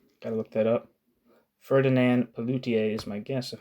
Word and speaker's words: Pelloutier: Ferdinand Pelloutier is my guess of how you pronounce that, but Pelloutier. Pelloutier. Pelloutier, got it right, began to favor the label,